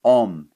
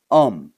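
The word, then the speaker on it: ohm: le système international d'unités est appelée homme ça s'écrit au h m c'est le nom d'un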